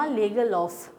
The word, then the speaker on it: Lagerlöf: The rat trap chapter has been written by a Swedish writer named Selma Lagerlöf. Okay, so let's come to the pronunciation of her name.